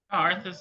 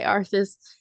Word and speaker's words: Arthas: I love that Arthas, I'm gonna pronounce all of these wrong even. Oh, Arthas is right. Okay, Arthas. He like even just you